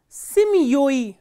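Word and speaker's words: семьёй: So, if the ending is stressed, for example, simya, in simya the ending is stressed, the stress is on ya.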